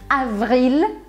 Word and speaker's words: avril: Outra forma também é você aumentar o tempo do V. Avril, porque aí você começa a se preparar para fazer o R.